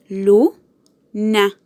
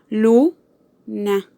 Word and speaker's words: luna: Luna. Luna. Luna tiene su acento en la sílaba lu, por lo que tiene su acento en la penúltima sílaba.